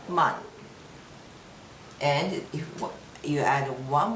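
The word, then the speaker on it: 万: after this comma there is uh it's called man but after that it's the same thing uh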